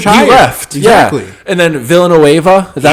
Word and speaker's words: Villanueva: And then Villanueva, is that how you say his name?